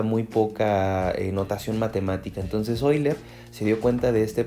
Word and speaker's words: Euler: Tenemos que el suizo matemático y físico Leonhard Euler, se pronuncia Euler, en el siglo XVIII, 1707, fue de la